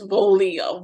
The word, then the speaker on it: Voglia: Because I would have totally gone with however, Voglia or whatever, because yes, the G is silent. So that silent little consonant in there.